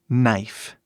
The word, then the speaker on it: knife: que significa faca novamente simplesmente o som a pronúncia começa com n knif não falamos knif ou pior knif algo assim né Knife é pronúncia dessa palavra